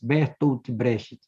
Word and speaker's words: Bertolt Brecht: poeta e dramaturgo alemão Bertolt Brecht, estou pronunciando em português, Bertolt Brecht.